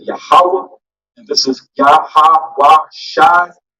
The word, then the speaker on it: Yahweh: So the way you pronounce this in the Paleo Hebrew is Yahweh, and you say it Yahweh, and this is Yahweh Shai, Yahweh Shai, Yahweh Shai.